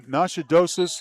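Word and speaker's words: Natchitoches: She she's headed to to Northwestern State in Nashadosis.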